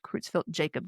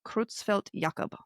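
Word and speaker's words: Creutzfeldt-Jakob: Um, I know sometimes here in America we say Kroozfelt Jacob disease. I've heard both, but from what I've learned recently, it's Krutzfelt Yakob because they were both these individuals were both uh, German, actually.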